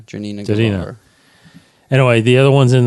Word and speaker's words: Janina Gavankar: Janina Gavankar. Janina Gavankar.